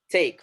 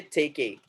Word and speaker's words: take: So whenever E is coming at the end of a word in English, that E will be completely silent. For example, save. Take. We are not going to say save. We are not going to say take a.